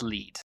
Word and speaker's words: Lied: But I'm fairly certain it's lead because I it feels Germanic to me.